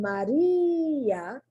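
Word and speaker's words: María: But in Maria, the I is strong.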